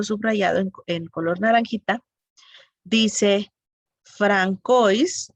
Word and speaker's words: François: Dice Francois, en francés se pronuncia François, coma, príncipe de Joinville,